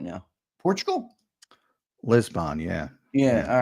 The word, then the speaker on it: Lisbon: It's pronounced Lisbon, by the way. LIZ-BUN.